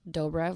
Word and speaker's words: Dobrev: Dobrev, like doughboy, not Dobrev, not Dobrev, not Dobrev, whatever people say.